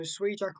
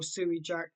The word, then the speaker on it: SUIJAK: today ISU Jack so s Jack or Su Jack depending on how you want to pronounce it is uh this i